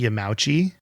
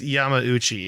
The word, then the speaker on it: Yamauchi: your correction yeah but it's yama uchi is how it's pronounced i believe and i've been saying